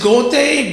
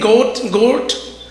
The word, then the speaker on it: Goethe: I can never pronounce this guy's name. Is it Goethe? Goethe. Goethe.